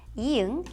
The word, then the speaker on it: 이응: For example, 이응 has no sound at the beginning of a syllable, but as 받침 at the bottom, it sounds like 응, like ng in English.